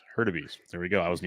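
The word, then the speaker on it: Hurtubise: It's pronounced Hurtabees. Hurtabees.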